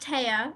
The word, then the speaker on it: Thea: hi thank you um it's pronounced TAA I'm so sorry no